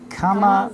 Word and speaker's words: כמה: Kama.